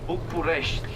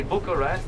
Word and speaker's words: București: Like you have București. Yes, you say Bucharest, but actually the locals are pronouncing București.